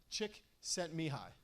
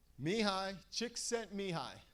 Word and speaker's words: Csikszentmihalyi: here's one thing I want everybody in the room to say me hi chick sent me hi me hi Csikszentmihalyi me hi Csikszentmihalyi there